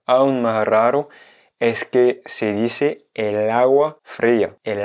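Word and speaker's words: el agua: naturel donc en fait pour des soucis de prononciation de fluidité on dit el hawa mais agua est en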